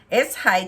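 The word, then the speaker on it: Švejk: We are to be mindful of the Czech national folk anti-hero, a soldier named Shveyk, S-H-V-E-Y-K, Shveyk. I'm pronouncing it possibly incorrectly.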